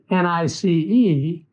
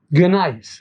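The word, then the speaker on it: gneiss: nice while it is nice it is actually spelled g-n-e-i-s-s gonis or properly pronounced nice so this is what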